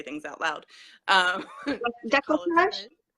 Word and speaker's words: Décolletage: Decolletage? Decolletage, yes, that's the way to pronounce that word.